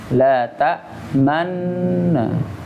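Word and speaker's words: لَا تَأْمَنَّا: Cara pengucapannya dengan tadi, ya, sesuai definisinya atau istilahnya, yaitu dengan isyarat bibir isyarat bunyi pengucapan huruf dhammah u, ya. La ta'manna. Jadi dengungnya tetap ada, ya, karena nunnya nun bertasdid ini. La ta'manna.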